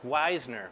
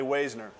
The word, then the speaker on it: Waisner: think that's wisener weisner hey silent everybody screws it up it's normally wazner is it german yeah okay all right so i heard you you don't say the first vowel that sounds right in german it's like so everybody